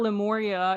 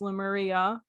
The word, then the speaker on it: Lemuria: else pronounce it so it's not lemuria it's lemuria um but yeah it's you